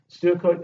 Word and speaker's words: pseudocode: So this pseudocode, they are spelled Pseudocode. When you pronounce, you just silence the P, you just say pseudocode.